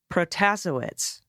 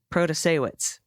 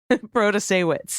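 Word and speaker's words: Protasiewicz: judge Janet in Wisconsin protestowitz no that's not right proto-sawitz bro to say wits and here's a video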